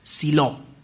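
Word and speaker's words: Siló: Se pronuncia con acento al final. Silo. No lo tiene, pero así se pronuncia.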